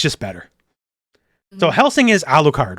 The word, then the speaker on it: Alucard: Yeah, because like, when they say in Japanese, Arcardo, right? Like, because they can't do L's. So, like, phonetically, they're saying Arcard. So, like, they're trying to argue his name's fucking Arcard when Dracula backwards is Alucard, right?